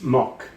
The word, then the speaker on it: Makk: Mock is is Hungarian pronunciation. Most people just say Mac.